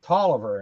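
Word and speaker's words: Taliaferro: like Talia Farrow and they pronounce it Toliver in Virginia and West Virginia and I'm going okay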